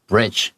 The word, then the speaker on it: bridge: 好，我们来看一下主角出现咯。The story follows 3 best friends。那我们这个故事呢是围绕在3个好朋友之间，Bridge、Emily and Tabitha。好，这个 Bridge 它本来叫 Bridget，但是后来他因为出了个意外之后呢，他就把那个 T 拿掉，他跟妈妈讲说，我比较想要用个新的名字来出发，所以他就叫自己 Bridge。